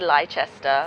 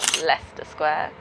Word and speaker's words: Leicester Square: Leicester Square, which is not said Leicester, Leicester Square. Greenwich, which is where the O2 and the cable cars are. It's spelled Greenwich, but it's said Greenwich.